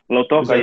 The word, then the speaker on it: Lautoka: First off, am I pronouncing the name of your town right? Lautoka? Lautoka, yeah.